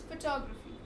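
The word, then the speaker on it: photography: example this word फोटोग्राफी we have the stress on this one सो इट्स फोटोग्राफी राट नॉट न this particular verb not न this no इट्स on this so इट्स फोटोग्राफी right you pronounce the word top अ bit Hiren louder than the other syllabus इ it clear फोटोग्राफी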